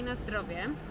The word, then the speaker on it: na zdrowie: You say na zdrowie.